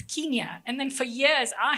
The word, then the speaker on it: Kenya: The immigration officer asked her where you're from, and she said Kenya. And he's like, do you not know even how to pronounce the name of your own country? It's Kenya.